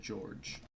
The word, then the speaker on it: Jorge: good friend George and even though he spells it like Jorge he pronounces it George that's half-orcs for you